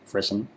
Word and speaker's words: frisson: I did have to look that word up as to how it's pronounced. It is, in fact, frisson.